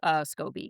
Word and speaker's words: Scobee: Was it Scobee cuz that's how I pronounce it? I believe it was. I believe they do call him Scobee, yes.